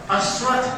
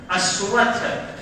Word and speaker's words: अश्वत्थ: और तलागे सो आधा वो आधा दो थ अश्वत्थ कहा गया है। ध्यान रखिएगा, इसको मिटा दे थोड़ा सा जी। उसको जो है अश्वत्थ, देखिए ऐसे उच्चारण कीजिएगा, अश्वत्थ।